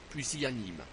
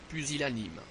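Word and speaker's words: pusillanime: rol dites profitrol profitrol pilanime ne dites pas puilanime dites pilanime puusilanime rebus ne dites pas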